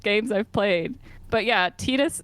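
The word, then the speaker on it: Tidus: Fantasy 10 the main character's name is apparently pronounced tetus and not Titus which I definitely thought it was Titus oh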